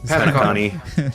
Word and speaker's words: Penacony: What's Penacony. Yeah, Penacony. Is that a, That's how it's pronounced.